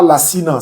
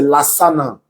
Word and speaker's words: Lassana: Ce n'est pas Lassina, c'est Lassana. J'ai vu Lassina Diané. Non, c'est Lassana Diané.